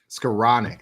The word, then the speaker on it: Skowronek: Skowronek, that's it.